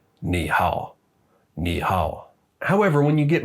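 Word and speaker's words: 你好: a fairly simple rule when there are two third tones in a row the first one becomes a second tone it would be really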